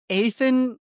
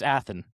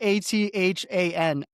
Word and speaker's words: Athan: Is it Ethan? Oh man, Ethan Kaliak Manis. Ethan Kaliak Manis. The last name was not bad. It's Athen. Athen. Oh, you can't throw Athen in there. It's spelled different than Athens, Georgia. It's for the viewers listening. It's Athan.